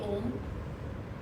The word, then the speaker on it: Om: And I will teach you how to say the Om. A lot of people do it differently, but the way we concentrate and do the Om is that the O should be short and the Ma should be long.